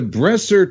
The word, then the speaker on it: Bressler: telescopes right here okay I have to correct you Thank You Pat rabbit is the Bressler telescope company the breasts ER telescope company I was saying it wrong so I want to